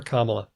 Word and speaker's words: Kamala: and train myself to put stress on the first cable for Kamala oh yeah cuz it